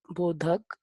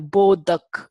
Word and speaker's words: bodhak: is paka bra aak bodhak. There is no uh in Sanskrit there is no syllable stress. Okay. So you can't have boduck or bodha. It is bodhak.